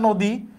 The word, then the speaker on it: নদী: পরেরটা এখানে দেখো, ন এর সাথে আমরা জানি আছে, তাহলে এর উচ্চারণটা ও এর মতো হবে। কেন হবে? কারণ এই যে দয়ের সাথে দীর্ঘইকার আছে, তাহলে দয়ের সাথে দীর্ঘইকার থাকার কারণে এর উচ্চারণটা ও এর মতো হয়েছে।